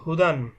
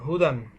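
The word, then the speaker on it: هُدًى: দুই জবর দান হুদান দেখুন এখানে একটা ইয়া দেখা যাচ্ছে এই ইয়াটা লেখার ক্ষেত্রে আসে কিন্তু উচ্চারণের ক্ষেত্রে ইয়াটা উচ্চারণ হবে না শুধুমাত্র যখন আরবি লেখা হয় তখন আরবির লেখার কিছু আলাদা নিয়ম আছে সেগুলো আমাদের না জানলেও চলবে তো সেই লেখার নিয়মের ভিতরে এই ইয়াটা লেখার সময় লিখতে হবে কিন্তু এটা পড়ার দরকার নেই উচ্চারণে ইয়েটা আসবে না তো এরকম পড়লেই হবে হা পেশ হু দাল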